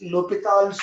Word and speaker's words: L'Hôpital: This man also, correct pronunciation is L'Hôpital's rule. बाकी सब silent.